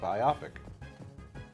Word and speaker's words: biopic: but but I I it's it's not how it would be phonetically so it throws me it's a biopic I gotta say our